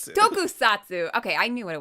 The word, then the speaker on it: Tokusatsu: We are going to have a tone Is How do you say it? Tone co- Tonkotsu? No, it's Tokusatsu. Tokusatsu.